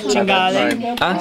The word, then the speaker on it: cinghiale: It was a cinghiale.